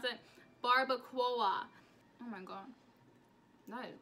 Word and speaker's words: barbacoa: Barbacoa, how do you pronounce it? Barbacoa.